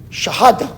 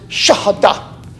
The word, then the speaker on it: Shahada: Shahada, or I used to pronounce it Shahada until I heard somebody on TV pronounce it Shahada, right?